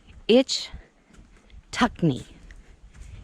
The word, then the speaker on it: Ichetucknee: where you're at so itch tuck knee itch tuck me i believe is the way that it is pronounced and if it's not